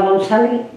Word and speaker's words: González: Yo me llamo González y yo la González, pues no la pronuncio la Z. González.